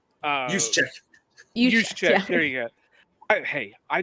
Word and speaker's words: Juszczyk: And I can't pronounce the guy's last name for nothing, but the fullback from San Francisco, Jusek. Juszczyk.